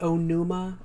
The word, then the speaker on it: Onuma: The AG Onuma. Or is it Oinu?